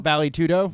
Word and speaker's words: Vale Tudo: Shepard said our other discovery named how do you pronounce that? Well, I know it as a Brazilian mixed martial arts corporation. Valtudo? Vale Tudo.